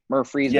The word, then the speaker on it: Murfreesboro: Murfreesboro.